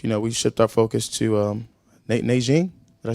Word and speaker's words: Nanjing: We shift our focus to Nanjing. Did I say it right? Yeah. Say it. Nanjing? Nanjing.